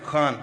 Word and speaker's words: Khan: Khan, am I saying it right? Khan from the Epiglottis.